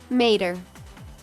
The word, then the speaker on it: Mater: If you struggle how to pronounce his name, here's how he explains it, like Mater, but without the "ta."